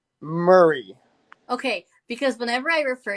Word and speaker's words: Murray: Murray.